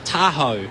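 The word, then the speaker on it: Tahau: She told her teammates during the week that her name is pronounced Tahoe. It was the first they knew. They've been calling her Indy Tahoe all season.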